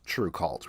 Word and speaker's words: TRVE KVLT: And just to clarify for anybody listening who wasn't watching earlier, it's spelled TRVE KVLT, but pronounced True Cult, right?